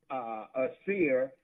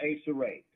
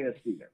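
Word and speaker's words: Acere: And I pronounce it a seer, but some may pronounce it a serrate. Okay. But I say a seer.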